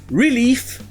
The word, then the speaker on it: relief: pas le même sens ça se prononce l'ulif et ça veut dire